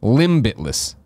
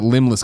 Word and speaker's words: Limbitless: doing so it's what how would you pronounce this limbitless solutions I called it limbless collaboration up here but it's actually got it's a play on words I guess limbitless limbitless limbitless solutions